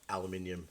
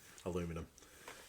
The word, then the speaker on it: aluminium: hollow those bones exactly should have just gone with aluminium or for our American audience aluminum uh so aluminum aluminum I know you know technically speaking it's the correct way to pronounce it but no it's not where's the I aluminium Alum minum minum yeah it's aluminium not aluminum Alum I can't even